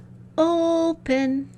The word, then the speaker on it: open: When I call it to dinner, open. The O part is the part that rings out loud and clear. That's the stress side.